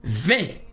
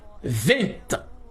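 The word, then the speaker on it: vingt: La phonnérique même nous permet deux prononciations. La première 20, la 2è 20.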